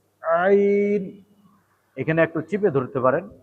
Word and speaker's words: ع: আইন, ভিতর থেকে হলকের মধ্যখান থেকে আইন।